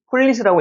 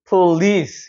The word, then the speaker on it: police: 그런데 강세가 여기 있기 때문에 폴리스라고 읽으면 안 되고 police라고 해야 됩니다. police 이렇게 올라가는 발음이 되는 거예요.